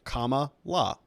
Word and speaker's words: Kamala: had to tell me say the word comma and then add a law at the end of it comma law oh all right and